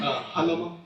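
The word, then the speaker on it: Jalama: Javier Halama. Say your last name again. Halama. Spell it for the court reporter.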